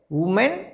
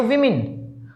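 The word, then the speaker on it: women: The females या वुमेन, वुमेन या विमेन, वुमेन नहीं वीमेन, उच्चारण पर ध्यान रखना। आप ओ को है ना, अब ये ओ लिखा हुआ था, आप उसको ओ ही पढ़ रहे हो, नहीं कि यहाँ पर उच्चारण में क्या देखा हमने? ई साउंड से बोलना आपने।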